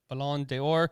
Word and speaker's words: Ballon d'Or: It's French, so Ballon d'Or.